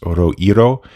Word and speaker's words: roiro: I believe it's pronounced Oroiro. It's R-O-I-R-O. I think that's how you would say it.